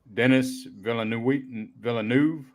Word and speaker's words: Denis Villeneuve: Directed by Denis Villeneuve.